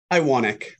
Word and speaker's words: Iwanek: Iwanek, how do I pronounce it? Iwanek.